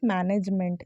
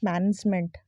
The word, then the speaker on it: management: इट्स नॉट मैनेजमेंट, इट्स मैनेजमेंट। दोनों में अंतर कर पा रहे हैं। एन में ना एक ही मात्रा लगा के हम बोलते हैं, इसका जो उच्चारण करते हैं, इसमें एक ही मात्रा नहीं लगेगी, ये गलत है।